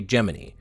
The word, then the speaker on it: Gemini: made a statement declaring the official pron Association to be geminy so since it's their program we'll be playing by their rules they all said giny so we're going to say geminy I don't care how